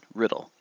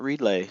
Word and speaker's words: Riddle: That's right, Riddle. Not Reedlay, not Reedla, not, not Riddell. Riddle. Just like it's spelled.